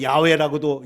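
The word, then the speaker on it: 야웨: 이름이 엘샤 다이도 있고 여기 여아도 있고 야외라도 야외가 더 올바른 발음이라고 합니다 근데이 야외 하나님이 여호와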